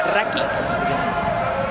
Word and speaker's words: Rachi: Por cierto, ahora que ha pasado cerca nuestro, Raquel Sartirani tiene la camiseta Rachi, que en italiano se pronunciaría Raki.